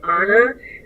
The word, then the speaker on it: Anna: is my name my my name is actually pronounced Anna um like in Frozen um and when my